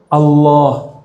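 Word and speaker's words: الله: I dulu Billah ilallah kalau a bacanya o ilallah bukan o juga tapi antara a dan u itu Allah jadi cara baca Allah si bukan Allah Allah jadi A tapi cenderung kepada u a cenderung kepada u bukan Allah tapi Al Allah bacanya A tapi lidahnya ngarah ke u Allah Coba Allah sekarang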